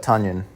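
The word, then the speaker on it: Tonyan: and yes it's pronounced tanyan it's like onion but tanyan so now that we're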